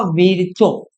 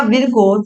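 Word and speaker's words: Virchow: एक साइंटिस्ट और है जिनका नाम था वीरचो, जो प्रोनाउंसिएशन आपको सही लगे, विरचो या विरको।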